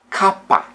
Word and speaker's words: K: the Romanian alphabet is Kaa or C the pronunciation is like K in Sky SK Sky now the